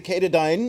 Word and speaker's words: Katadyn: This is the Katadyn, or Katadyn, if you want to say it properly.